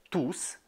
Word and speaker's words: tous: On prononce S dans le mot tous.